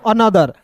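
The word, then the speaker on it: another: फिर देखिए दोस्तों यहां पे एन ओ टी एच ई आर इसे पढ़ेंगे दोस्तों अनदर अ अनदर पढ़ेंगे दोस्तों ठीक है अ आधा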